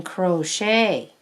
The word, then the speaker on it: crochet: crochet yes you can crochet crochet is a hard word to spell c c-r-o-c-h-e-t the c-h sounds kind of like in s-h but it's spelled with a c-h oh that's interesting yes